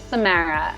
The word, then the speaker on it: Samara: And my first name is Samara.